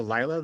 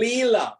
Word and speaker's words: Lila: Is that related at all to Lila, the cosmic game? Like, Say that again. Is it related to Lila, the cosmic game, like that concept? Leela.